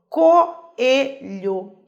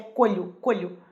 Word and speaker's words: coelho: Percebam, coelho. Se eu falasse que existe um ditongo, eu ia falar que é colho. Percebam que ambas têm pronúncia forte. Coelho. Se eu tenho 2 vogais,